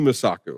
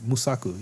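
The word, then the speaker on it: Mosaku: I think who should win is uh W Man Wumi Musaku. I I feel like I'm keep pronouncing her name wrong. WMI Musak Musaku.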